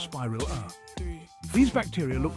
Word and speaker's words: spirilla: prepare to be amazed by the spiral-shaped spirilla pronounced spiral a these bacteria look like tiny cork screws and